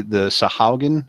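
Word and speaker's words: Sahuagin: We were dealing with the Sahaugen. Is that how you pronounce it?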